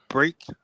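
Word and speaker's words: Brake: because it's real weird but just say br break Watson I thought you said Watson break Watson break however you want to do it Waton bre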